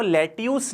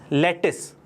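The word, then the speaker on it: lettuce: नहीं ब्रेकफास्ट होता है अब इसको लेट्यूस नहीं बुलाते हैं इसको बुलाते हैं लेटेस्ट देखिए स्पेलिंग है एलईडी टीवी UC यह मैं स्पेलिंग नहीं लिख रहा हूं यह सिर्फ आपको नॉलेज के लिए प्रनंसीएशन लिखूं तो इसकी स्पेलिंग तो यह है लेकिन इसको बुलाते क्या है लेटेस्ट ठीक है कि आज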